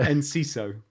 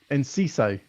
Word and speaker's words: Enciso: Enciso. Enciso. Yeah. Enciso. I think that's how you say it. That's how they say it on the radio anyway.